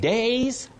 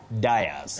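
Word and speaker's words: dais: Days, not diers.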